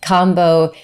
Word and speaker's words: Kambo: who aren't aware that Kambo, spelled with a K-A-M-B-O, not combo as in combination, but it's frog medicine.